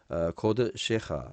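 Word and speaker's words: קָדְשֶׁךָ: 하르 코드쇼 요 코데시는 이제 오로 발음해야 되죠. 코드시하 주의 성소죠. 주의 성소. 그래서 요 발음만 오홀레하하고 코드 셰하 요것만 발음하면은 나머지는 이제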